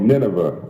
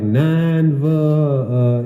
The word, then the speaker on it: Nineveh: It's called Nineveh. Nineveh. A Conflict Over Water. I'm over here like Nanva, you know.